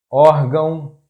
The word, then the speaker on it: órgão: The next tip is: if a word has two accent marks the stressed syllable is that one which has "acento agudo"or "acento circunflexo", because in this case "til" is just a nasal mark.